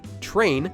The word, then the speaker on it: train: For example, the English word train is actually pronounced with a ch sound, although it's spelled with tr.